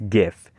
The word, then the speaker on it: GIF: There's also this word pronounced GIF or GIF depending on which G sound you prefer. For me, it's GIF.